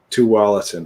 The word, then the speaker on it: Tualatin: Tualatin.